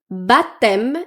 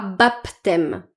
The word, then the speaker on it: baptême: Bathème et pas baptême.